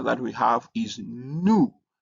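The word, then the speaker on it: nu: New is written like uh v in English. So you need to be very careful. Don't don't confuse it with v uh in English because it has a n sound like uh n in new.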